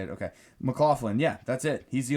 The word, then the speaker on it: McLaughlin: McLaughlin, yeah, that's it.